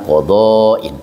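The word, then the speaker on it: قضاء: Wal aqdiyah jamu qadha, lafad aqdiyah bentuk jama mufradnya dari lafad qadha, bil madi dibaca panjang berarti dibacanya qadhain.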